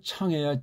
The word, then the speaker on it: 창: 쓸 수 있지 그래서 이게 발음이 차가 아니고 창해 창 창 그렇죠 그래서 창 왜